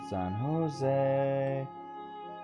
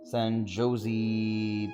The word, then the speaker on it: San Jose: Sailing along all the way to San Jose because Jose rhymes with way. I am Texan, so I can also say San Jose because we Texans do that.